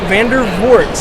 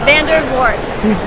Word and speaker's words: Vandervoort: with the Nery and I'm here with Laura Vander warts there you go hi that's how you pronounce it yes Vander warts all right and of course you're here with